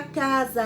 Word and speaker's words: casa: erro tenho certeza casa a palavra casa ela tem o som de z porém ela é escrita com s não é isso apesar